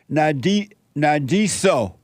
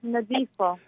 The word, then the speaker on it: Nadifo: Let me go to Minnesota and talk to a first-time caller, Nadiso. Nadiso. Is it Nadiso? Hi. Hi, Jesse. Hi, is it Nadiso? It's Nadifo. Okay.